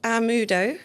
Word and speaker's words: Amaudo: It's called Amudo, which is spelled, I'll spell it, Yeah.